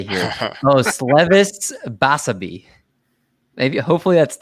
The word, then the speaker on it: Osleivis Basabe: Osleivis Basabe.